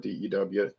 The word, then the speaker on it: D.E.W.: It's spelled out phonetically dew, like the dew on the grass, but it's really Daniel Edmund Williams, but we don't want to keep saying that.